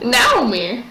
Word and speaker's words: Naomi: Naomi. Well, I mean, that's a actual pronunciation. Oh, I'm sorry. Like, just Naomi, her, like, if you go by Japanese pronunciation, I can speak, it would be Naomi. Oh, really?